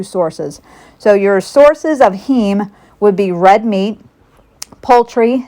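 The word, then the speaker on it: heme: So there are two sources heem and that's spelled he eme that's your animal-based iron source.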